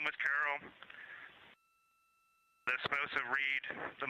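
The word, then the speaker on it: Carroll: And we would like to call it Carol, and you spell that c a r r o l l.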